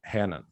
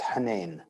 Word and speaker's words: Henein: language uh what is the arab way of pronouncing hennan is it the same no it's hanen okay does it mean anything it means so